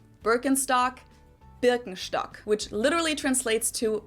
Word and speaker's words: Birkenstock: the world nowadays, and it's natural that people pronounce it with their native accent. So English speakers usually say Birkenstock. In German we say Birkenstock. Birkenstock, Birkenstock, which literally translates to birch stick.